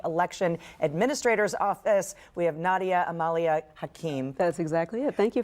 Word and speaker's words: Nadia Hakim: We have Nadia Hakim. That's exactly it. Thank you for the pronunciation.